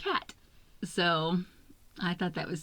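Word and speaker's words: quatre: French un cat cu the number four in French is pronounced cat so I thought that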